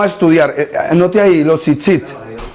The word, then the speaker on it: tzitzit: Anote ahí, los tzitzit. ¿Cómo se escribe? Tzitzit. T-Z-I-T. Tzitzit.